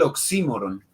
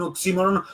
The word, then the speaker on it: oxímoron: entre grave o esdrújula me quedo con la grave.